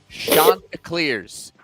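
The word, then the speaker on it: Chanticleers: Shantaa Clears.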